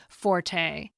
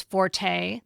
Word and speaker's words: forte: He notes that the word, quote, has long been thought to be preferably pronounced with 1 syllable, like fort, because of its French origins, but acknowledges that most